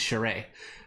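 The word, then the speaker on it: Charest: who we did his i know i'm pronouncing it wrong but we always called him that so he's cheray um because he's canadian he's canadian he was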